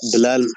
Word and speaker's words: Bilal: I was just saying because you say Bilal and we say Bilal, so I was just getting a laugh out of you. That's all. Bilal Muhammad. That's how you say it.